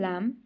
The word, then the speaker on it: lamb: For example, in lamb and bike the letter B and E are not pronounced.